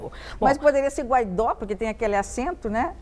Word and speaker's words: Guaidó: Eu devo pronunciar Guaidó ou Guaidó? Bom, dizem que tem aquele acento, qual é a pronúncia correta? Lá eles chamam ele de Guaidó, né? Lá na Venezuela ele é Guaidó. Guaidó. Então, Guaidó. Tá, vou me esforçar para falar o Guaidó.